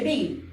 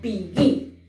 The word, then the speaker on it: begin: Lleva acento en la última sílaba. No se dice begin, sino begin.